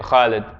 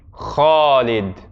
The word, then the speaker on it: Khalid: is an example where the common dialect of Arabic has influenced how we pronounce the classical Arabic. When people have this name, they typically say Khalid, Khalid. But if we were to pronounce it completely correctly, that a actually comes after the kha. So to say it correctly would be Khalid.